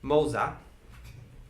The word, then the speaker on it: Moza: retcon just a tiny little bit and correct myself with the pronunciation. Princess Moza. Okay. So just with a single Z.